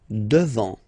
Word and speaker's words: devant: Final T not pronounced. Devant.